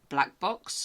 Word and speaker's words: BLK Box: I am absolutely delighted to be joined today by Greg Bradley, who is the founder and managing director of Black Box, or BLK Box as it's spelt.